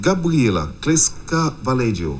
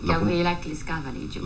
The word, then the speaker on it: Gabriela Clesca Vallejo: Alors, c'est Gabriela Clesca Valedio. Oui. C'est ça. Oui, Gabriela Clesca Valedio. La prononciation jusque-là Oui, ça est correcte.